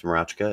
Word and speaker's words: Mroczka: Uh, last name is Marachka. It's Polish and if you never pronounce that correctly, that's fine.